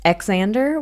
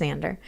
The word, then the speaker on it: Xander: It's also not pronounced Xander, which a few rare people seem to think it is. Xander. It's just Xander.